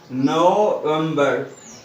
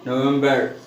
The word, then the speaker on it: November: The correct pronunciation of this word is here November. Okay, November. Okay, no, November.